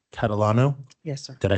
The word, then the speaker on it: Catalano: And just so I get it right, Catalano?